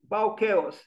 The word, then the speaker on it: Bauchaos: By the way, of Bauhaus, I intend to start an architecture school called Bauhaus, Bauchaos. So I just put the letter C in front of H-A-O-S and becomes Bauchaos.